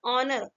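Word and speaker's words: honour: ऑनर होना लिखा है, लेकिन ऑनर पढ़ते थे, यहाँ पर राइट आंसर क्या होगा, ए, यहाँ पे ए एन ऑनर, H silent, अगर ओ से पहले एच आएगा तो क्या होगा, पसंद।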